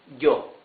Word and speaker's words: yo: Then we have some Spanish-speaking countries pronounce the Y as sh. Some others, mostly, pronounce it like y. So let's better use y. So this would be yo.